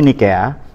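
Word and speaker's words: Nicaea: Nikea, tulisannya Nicea atau Niceae. Di konsili Niceae, ini cara bacanya Nikea, tahun 325 Masehi antara Athanasius dan Arius.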